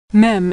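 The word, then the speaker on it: מם: Mem is pronounced M as in Mary.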